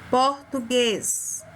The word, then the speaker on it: português: Outro exemplo, português. Português. Para dentro, ó. Guês. Português.